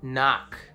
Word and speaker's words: knock: Knock.